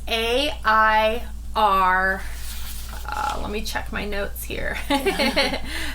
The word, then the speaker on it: Airel: the name air L um how do you spell that it's a i r let me check my notes here because I forgot yeah yeah I was right so it's a i r l o not e-l-l or just no but it's